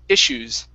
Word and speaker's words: issues: the word uh issues give me a short I here at the beginning instead of issues it's is issues is issues okay one